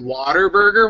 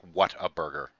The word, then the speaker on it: Whataburger: No, it's not like Water Burger. It's like spelled like what a burger. Whataburger. But instead of what, it's wow.